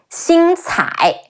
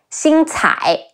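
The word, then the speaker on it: 星彩: In Dynasty Warriors, Xing Cai is a fictional interpretation of their two daughters. Xi Yin Xing, Ci Ai Cai, Xing Cai, Xing Cai.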